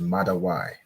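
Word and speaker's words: מדוע: And we have why, which is Mada why. That one might be easy to remember because it's sort of, at the end, it rhymes with the English word for why.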